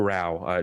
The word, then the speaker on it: Rao: It's not Ro. Wait, it's wow, but there.